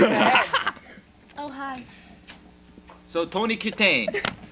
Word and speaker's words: Kitaen: Pronounce it. Kitaen. Kitaen. Exactly. Kitaen.